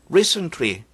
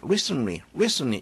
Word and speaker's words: recently: 근데 상당히 많은 경우에 N 다음에 T는 잘 발음되지 않습니다. international 하지 않고 international 이렇게 우리가 발음하죠. 왜 그래요? international, international, 여기에 T가 여기 있죠? international, 이렇게 발음되는 경우가 많죠. 그것과 마찬가지로 recently, 상당히 많은 경우에 recently 이렇게 발음되는 경우가 많이 있으니까 참고하세요.